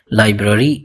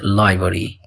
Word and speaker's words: library: Many people mispronounce it as library. But its correct pronunciation is library.